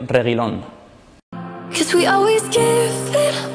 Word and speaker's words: Reguilón: sell your regular fans this is how to pronounce my name sergio reylon cause we always give